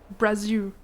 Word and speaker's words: Brazil: And he was like, no, Jillian, it's not Brazil, it's Brazil. Or like Brazil. Like, there's like a way that you guys say the L at the end that's different than how Americans say it.